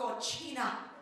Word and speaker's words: cochina: say, I am a cochina. Some of you studying Spanish think that I am a kitchen. That is pronounced cocina. Cocina is kitchen, cochina is filthy pig.